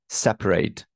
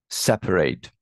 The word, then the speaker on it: separate: seven university university university number eight separate separate separate so it will be the first syllable so we're going to